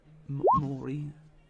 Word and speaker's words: Maury: Maury. Maury. Yeah, Maury. Like the Maury show.